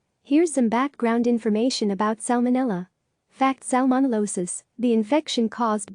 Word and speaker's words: Salmonella: mo NE al la the first L is pronounced unlike the silent L in salmon the fish Centers for Disease Control